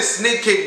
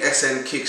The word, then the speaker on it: SNKICK: video now so okay yeah i've been saying snake kick but like honestly that's like like the easiest way to pronounce it but it's really sn kicks as you guys can see at the top